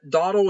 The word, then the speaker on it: Dottle: Dottle is Dottle. Dottle and Breyer. Dottle, like the remnants of a bowl. Duddle and Briar.